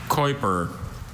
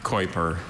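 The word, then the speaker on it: Keuper: Are there any alternate pronunciations? I have just the one, Kuiper. It's an adjective from German. What is the etymology?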